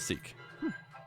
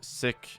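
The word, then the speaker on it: Sikh: just pronounce it differently my understanding is that is um a doing of the British and sick is how it is how it would be pronounced in Punjab gotcha um there's a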